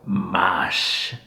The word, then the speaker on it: master: He doesn't pronounce the S as much. It's more mosh, like mosh pit.